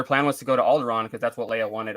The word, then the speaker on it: Alderaan: Alderaan, it's actually pronounced, and they pronounce it Alderaan in the movie, and they also pronounce Leia as Leia.